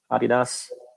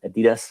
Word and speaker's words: Adidas: I'm working for Adidas, or Adidas, how you pronounce it in the US.